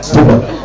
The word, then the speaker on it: Puma: How do you pronounce it? Puma or Puma? German. Puma.